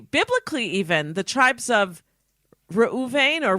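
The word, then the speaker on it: Reuben: fact if you biblically even the tribes of rauven or ruben in english and gad i guess you'd pronounce it that in english in in hebrew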